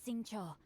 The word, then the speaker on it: Xingqiu: My name is Sing Cho, a humble literature enthusiast who happened to be passing by. So that's how you say his name.